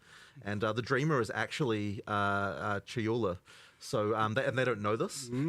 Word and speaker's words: Chayula: So the acolyte of, I always get this name wrong. The acolyte of is it Chalula? Chayula. I always say this wrong.